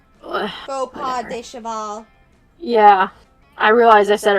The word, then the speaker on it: faux pas: You're mortified by your fox paw. Faux pas de cheval.